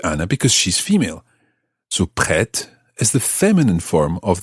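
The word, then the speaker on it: prête: french words pre but in the feminine form the t sounds because there's an e at the end p r e circumflex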